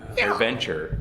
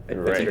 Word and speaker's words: AirVenture: Airventure. Airventure. It's not an adventure. An air show adventure. Airventure.